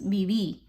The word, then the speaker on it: viví: Remember those V's in Spanish are pronounced like B's, viví.